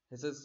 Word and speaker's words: HySIS: की बात की थी, हाइसिस की बात करेंगे। देखिए इसकी प्रोनाउंसिएशन कई लोग कुछ भी कहते हैं, HYSIS भी बोलते हैं, हिसिस भी बोलते हैं, तो आप अपने अकॉर्डिंग चुन लीजिएगा, ठीक है।